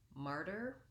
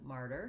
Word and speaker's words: martyr: about this because of the difference between the ma vowel in matter and the r diphthong in martyr so we're going to